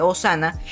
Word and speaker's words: Osana: dejar aquí en pantalla me había dicho que no se dice zona se dice osana y yo siempre le